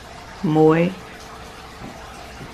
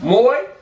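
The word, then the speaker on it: មួយ: How you say one to come by? Muy. For all my Cambodians. What's it? Muy. Muy. Not uno. Not one. But muy.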